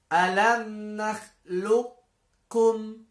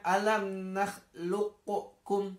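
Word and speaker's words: أَلَمْ نَخْلُقْكُمْ: Jadi dibacanya bukan alam nakhluqukum, tidak perlu. Tapi qafnya dimasukkan ke dalam kaf, namun qafnya itu bekasnya masih ada. Karena sifat hurufnya tidak hilang kan?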